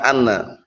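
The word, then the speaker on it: أنّ: Kita lihat sini, kapan dibaca anna? Al-mawadi' allati tuftah fiha inna. Tempat-tempat yang innanya itu di fathah. Hamzahnya di fathah. Berarti bacanya apa? Anna. Bukan inna, tapi anna.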